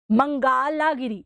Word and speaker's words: Mangalagiri: 9 next is ases mangalagiri mangalagiri okay I always pronounce this wrong it's mangala giri if I still have